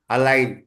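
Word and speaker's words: align: இத எப்படி படிப்பீங்க அலைன் அலைன் அலை ஒன்னு சைலண்டா இருக்கு எது சைலன்ட்டா இருக்கு ஜி ஜிஜி சார் சைலண்டா இருக்கு இத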